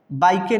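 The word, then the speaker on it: bike: ठीक है, जैसे बाइक, बाइकें नहीं पढ़ेंगे इसको, सिर्फ बाइक, है ना?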